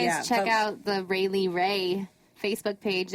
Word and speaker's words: Railie Rai: Make sure you So, guys yeah, check folks- out the Rayleigh Ray Facebook page. It's RAILIE RAI, I think. Yeah, that's what it's spelled like on Yay.